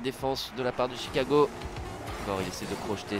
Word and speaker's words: Chicago: à l'américaine ch fondis chicago c'est comme choke par exemple il n'ya pas de